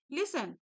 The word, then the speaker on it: listen: LISTEN, यहाँ पर टी है लेकिन टी साइलेंट रहता है, तो कैसे प्रोनाउंस करेंगे? लिसन।